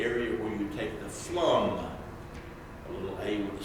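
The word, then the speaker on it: Flåm: The first railroad took me up to the area where you take the Flum, a little A with a circle above it. It's pronounced like Flum Railway.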